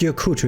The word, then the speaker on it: Gyokuto: wraiths in european folklore gyokuto pronounced yokutu in japanese thank you for that